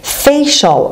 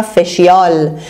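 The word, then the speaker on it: facial: کارای پوستی مود هست اشتباه میگن فیشال از فیس میاد فیس یعنی صورت فیشال یعنی مربوط به صورت فیشال خیلیا شنیدم اینو تلفظ میکنن فشیال و تو شبکه‌های مجازی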